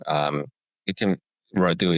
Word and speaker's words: Radu: Uh my first name um it can Rui is absolutely perfect. There is a Eastern European way of saying it. U but the rolling R sometimes is difficult.